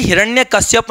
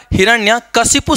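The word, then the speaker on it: हिरण्यकशिपु: है, सूर्पणखा होता है, ऐसा ही हिरण्य कश्यप नहीं, हिरण्य क्या मिल जाएगा, हिरण्य कशिपु शब्द मिलता है, हिरण्य कशिपु, उच्चारण सुधारेंगे बहुत आसान है, ठीक है।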